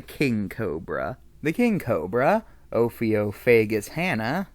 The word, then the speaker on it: Ophiophagus hannah: cobra the king cobra ophiophagus hannah i'm pretty sure that's how it's pronounced it's a reptile head's